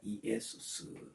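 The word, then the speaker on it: Ἰησοῦς: 그래서 우리는 빌립 빌립하지만 빌립퍼스 빌립퍼스 예수님 예수님 하지만 헬러 지역대로 하면 원 발음대로 하면 이에수스입니다. 이에수스 로마 로마하지만 흐로메 이렇게에 되고요.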